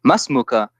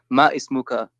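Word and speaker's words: ما اسمك: Yeah, but you know, imagine when you say masmuka, then you say it like not ma ismuka, but you say masmuka or masmuki.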